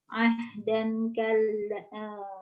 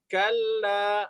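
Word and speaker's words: كلا: Dan kala, salah bacanya. Dan kala. Nah, ya saya kalau jadi imam seneng di sini nih ya. Jadi membaca dan kalla.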